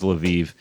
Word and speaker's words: Lviv: Homemade in Lviv's channel, which I think is actually pronounced like Lviv, or something like that. Homemade in Well, let's go with Lviv.